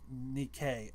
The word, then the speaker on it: Nikke: Gods of Victory Nike, pronounced Nikkei.